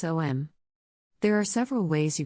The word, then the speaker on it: Om: How to pronounce Om? There are several ways you can say or hear Om. The most common you would find a short O, followed by a long M, especially popular in the West, something like Om.